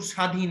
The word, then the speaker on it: স্বাধীন: তব বয় ক তক ব ফলা যদি কোন শব্দের প্রথমে বসে তাহলে তার কোন উচ্চারণ হয় না ঠিক আছে তো যেমন শ্বশুর স্বাধীন দেখো তালবস উচ্চারণে ব ফলা